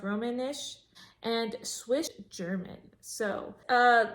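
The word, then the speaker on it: Romansh: Roman, Romanish or Roman, I think it's pronounced Romanish, and Swiss German.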